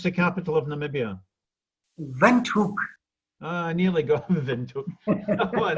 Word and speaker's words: Windhoek: I'm absolutely delighted to have you in here today from, how do you pronounce the capital of Namibia? Windhoek.